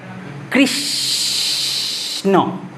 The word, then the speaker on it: কৃষ্ণ: মাঝখানে কিছু হয়ে যাক পাচ্ছ কৃষণ সটা যদি পুরোপুরি উচ্চারণ হয়েছে কৃষ্ণ তাহলে স এর সাথে একটা অ চলে আসছিল বাট এখানে তো আসছে না কৃষ্ণ ঠিক আছে তাহলে এখানে